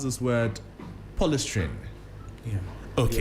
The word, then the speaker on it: polystyrene: However, the EPA says specialized, how do you pronounce this word? Polystyrene. Yeah. Okay. Polystyrene, yeah.